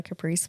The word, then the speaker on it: Kaprece: Kaprece, correct? I think pronounce it? Yeah, I just go by Caprice.